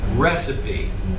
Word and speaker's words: recipe: then the definition re recip this word is pronounced recipe recipe it looks like it should be received